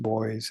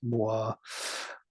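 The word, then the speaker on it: Bois: out of the black Boi that we knew and into the white Boi it's not pronounced boys it's Moi that we didn't that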